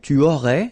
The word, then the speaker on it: tu aurais: Then same thing here, tu aurais, you don't pronounce the final S.